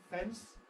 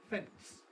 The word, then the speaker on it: fence: word fence now here you can if you like insert aive a t between the n and the s that is rather than fence you can say fence and indeed there are many British and American people who do precisely that and say fence dance